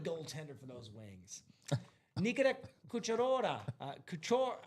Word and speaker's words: Kucherov: Nikita Kucherova. How do you say that? Is that Kucherov. hold on, let me see what we got here so I can Nikita Kucherov. Kucherov.